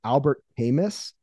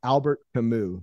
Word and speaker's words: Albert Camus: said his name was albert hamis but i believe it's albert camus the s is silent apparently um i've been corrected